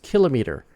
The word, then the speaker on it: kilometer: common it became kilometer it became latinized you know sort of pronounced more like latin because it's more like